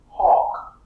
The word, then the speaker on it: hawk: Hawk. It's the same sound, right? But the L is silent.